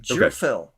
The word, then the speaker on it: Gerphil: nice and simple and Jil so juding so it's not a hard G it's a like a j sound why is this so